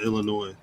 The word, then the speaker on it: Illinois: all-state arena in uh illinois but it currently says tva for the the name if you pronounce that s in illinois yeah illinois yeah i've